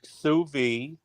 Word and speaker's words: sous vide: Look, it is pronounced sous vide.